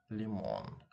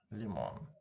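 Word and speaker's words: лимон: Let's say the word lemon, lemon. In Russian would sound like limon, limon.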